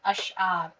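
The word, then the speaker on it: اشعار: अलिफ शी ज़ अश एन अलिफ ज़बर आर रे साकिन अशार।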